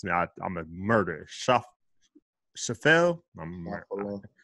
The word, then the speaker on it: Schauffele: I can't even pronounce it. I'm a murderer. Schauffele? Schauffele?